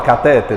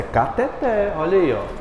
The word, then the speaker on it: cateter: você é da área o pessoal fala como não fala cateter ele fala mas é cateter Ela já sabia a